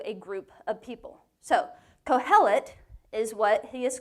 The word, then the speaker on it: Kohelet: with your girlfriends okay so co-hell it co-hell it okay now say it with some stuff in your throat like cohel it yeah i'm kidding that's not even how you say it i just wanted to hear you do that okay yeah so kohelet is what he's called and it literally means